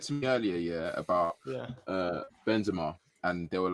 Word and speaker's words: Benzema: Someone said to me earlier, about Benzema, and they were like, first of all, I was in the podcast. I was saying Benzema, in it. How do you man say it? It's Benzema, in it.